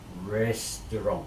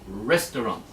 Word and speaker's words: restaurant: carrot carrot sharing caring restaurant restaurant restaurant restaurant on the first syllable restaurant restaurant exercise 3 now